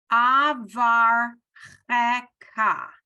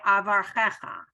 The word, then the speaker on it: avar cheka: So you pronounce this ka. Avar cheka. And this is one of the places that you will hear people say avar checha. It's wrong, but they do it.